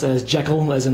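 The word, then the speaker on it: ZI:KILL: title for the band is supposed to be pronounced as Jackal as in like Jackal and high but this print PR as zekiel I was first introduced to them from watching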